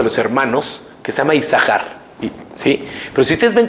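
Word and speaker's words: Isajar: Dice, en realidad, ¿por qué una de las sin no se pronuncia?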